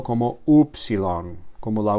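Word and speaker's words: ύψιλον: Es como la la u española.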